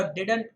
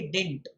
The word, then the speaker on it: didn't: एक टिप्पणी है यहाँ पर, DIDN' जो शब्द होता है वह डिडंट होता है, ना कि डिंट। जो दूसरा डी है वो साइलेंट लेटर नहीं होता है, इस कारणवश आपको उच्चारण जो है उसका करना चाहिए डिडंट।